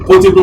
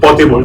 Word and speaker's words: potable: not have access to potable water. Remember, this is not portable, it is potable water. Potable, not the portable is one that you can carry about, but this one is potable. It's commonly mispronounced.